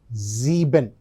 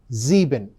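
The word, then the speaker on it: sieben: So, zeben zeben then 8 is pronounced as arked.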